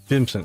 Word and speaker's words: Vimson: Now, do you pronounce your name with a wa sound or a v sound? Cuz I've heard I think I've heard people say it both ways. So, I'll make sure I say it correctly. Vimson. Okay. So, the the V sound for me.